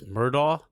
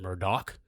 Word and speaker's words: Murdaugh: We are going to discuss, a lot of people think it's Murdaugh. Apparently, you pronounce it Murdoch.